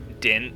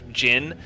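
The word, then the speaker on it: djinn: I know they're Dijinn, which is pronounced Din, or Jinn, but I always said Din for whatever reason.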